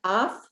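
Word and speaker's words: אף: We have af, your nose, that ends in a final fey. Af. It's got an F sound at the end, right?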